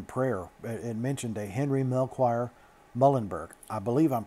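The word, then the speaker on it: Melchior: and mentioned a henry mel choir mullenberg i believe i'm pronouncing that right but i'm pronouncing it just like it's spelled uh m-e-l-choir so anyway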